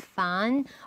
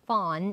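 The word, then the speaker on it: Phan: Michelle actually people um lots of people would pronounce her last name as fan but she used to make a video about how to pronounce her last name which is fwn I think it's Vietnamese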